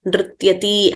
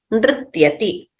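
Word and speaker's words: नृत्यति: So we should not prolong them as pathati, likhati, dhavati, nrityati, hasati. That would be wrong. So we have to pronounce them accurately as short letters. Pathati, likhati, dhavati, nrityati, hasati.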